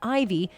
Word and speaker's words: Ivy: daughter the middle name Ivy which is pronounced like the Roman numeral four when spelled out as letters I'll let you decide